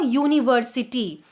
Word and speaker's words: university: A university. Though the word starts with a vowel U, but the pronunciation is Y-O-U. That is a consonant pronunciation.